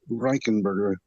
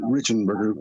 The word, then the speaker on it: Reichenberger: We pronounce it actually Reichenberger, but we say Richenberger for easiness, I guess.